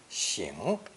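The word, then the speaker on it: 省: So the second pronunciation, Xing means to examine, especially one's conscience.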